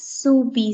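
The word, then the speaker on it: Soubise: soupy sauce we pronounce it as how we pronounce it as soo b sauce so to the subi sauce then we add the vegetable sauce to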